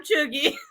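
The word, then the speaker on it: chuegy: Pronounced chuggy.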